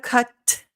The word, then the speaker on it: cut: often in American English instead of cut that sharp aspirated T your tongue is still going to go in the T position cut so the tongue has to be there in order for it to register as a t even if you don't